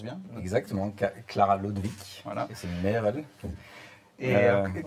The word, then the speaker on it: Lodewijk: jeune autrice qui s'appelle Clara Lodewijk, si je prononce bien. Exactement, Clara Lodewijk, voilà.